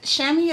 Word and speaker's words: chamois: the shammy nude and it's shammy is spelled crazy so a lot of people tend to um pronounce it wrong so it's c h a m o i s and that's like a shammy like something that you would you know dry your car with like that um this